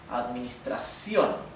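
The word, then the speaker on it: administrar: course means Administration right administra the accent goes in the last syllable administra so here I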